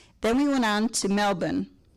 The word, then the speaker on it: Melbourne: we went on to melbourne as brian said the r is not pronounced so we flew from